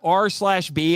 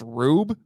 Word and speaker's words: R/B: It's not R/B. It's actually pronounced Rube.